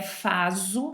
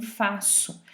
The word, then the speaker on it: faço: também na pronúncia né não é faso mas sim faço a gente compara e